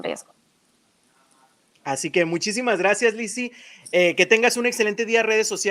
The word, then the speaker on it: Lisi: Claro que sí, mi nombre es Lizzy, se escribe Lisi.